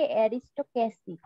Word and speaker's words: aristocracy: ও এটা হচ্ছে অ্যারিস্টোক্র্যাসি। এই আরটা উচ্চারণ হবে না।